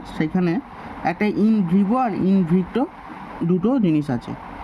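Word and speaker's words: in vitro: ভিভো মানে বাইরে থেকে, আর ইন ভিট্রো এভাবে উচ্চারণ করার চেষ্টা করো, ভিট্রো মানে ভিতর থেকে,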